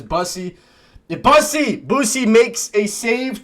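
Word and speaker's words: Bussi: I like to call him Boosie, but I think his proper pronunciation is Bussey.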